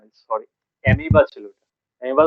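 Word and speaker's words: amoeba: হ্যাঁ, সরি এলগে না, sorry, অ্যামিবা ছিল ওটা। অ্যামিবা তো শুনেছো? অ্যামিবা, অ্যামিবা অ্যামিবা শুনেছো? এটা নেক্সট আছে। হ্যাঁ, অ্যামোইবা বলে ওটাকে, লেখার সময় অ্যামোইবা বলে, বাট প্রোনাউন্সিয়েশনটা তোমার অ্যামিবা বলে, AMOE BA, ঠিক আছে?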